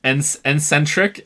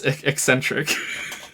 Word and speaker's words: eccentric: the one where uh I mispronounce uh eccentric and I and I pronounced it en Centric and then just kept like double down on it to just like to to uh to trigger the out of chat but legitimately I didn't say it right the first time um and and someone